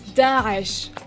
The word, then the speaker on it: Daesh: And the country about the terrorist threat by Daesh. We deplore... Daesh, or Daesh. It's Daesh.